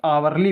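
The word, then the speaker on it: hourly: हवली visit लिखा है लेकिन इसको भी क्या पढ़ेंगे आवली विजिट आवली तो यह भी आ से शुरू हो रहा है तो इसके पहले भी एन का प्रयोग होगा अब देखिए अब व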